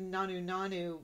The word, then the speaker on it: Nanu Nanu: I should mention that the elder, instead of saying the Nanu Nanu, pronounces it closer to Nanu Nanu with a flat A sound, more like the first season.